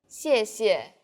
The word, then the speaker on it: 谢谢: The tone in the first syllable is the fourth falling tone, 谢. and the second syllable is the neutral tone. 谢. Altogether, 谢谢. You can see the radical in this character 谢 is.